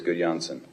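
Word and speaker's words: Gudjonsson: okay uh 20 please so um GSS is that uh could Johnson suggestibility scales yes it is good Johnson how's my pronunciation perfect is it very nice thank you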